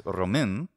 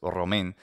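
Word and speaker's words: Român: Romanians is, so a Romanian is Romin, and my pronunciation is not great, but it's R-O-M-A with a hat on it and then N. Looks like Roman, but it's Romin.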